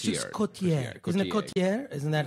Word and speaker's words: Cotillard: I think Marion Cotillard. It's just Cotillard. Isn't it Cotillard? Isn't that how you're supposed to pronounce it?